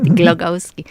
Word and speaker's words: Glogowski: You pronounce that right, Glogowski.